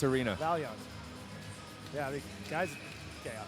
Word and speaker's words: Vaillant: Hey, how do you pronounce the arena? The Vaillant Arena. Vaillant.